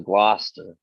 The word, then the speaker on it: Gloucester: Now that's spelt with Gloucester. I'm thinking Gloucester, but it was Gloucester.